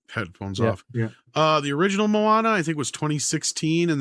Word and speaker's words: Moana: It's not Mona. It's Moana. That's closer to it than what you were saying.